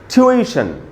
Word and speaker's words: tuition: ट्यूशन, ट्यूशन, ये इसका शुद्ध उच्चारण है, ट्यूशन। अब ऐसा हो गया है हम लोगों का, गलत बोलते बोलते हम लोगों को जो गलत उच्चारण है वही हमको स्वाभाविक लगता है, और जो सही उच्चारण है वो हमको अस्वाभाविक लगता है, इसलिए इसको ट्यूशन नहीं बोल के हमको बोलना चाहिए ट्यूशन, ट्यूशन। दूसरा वर्ड उसके बाद AUGUST,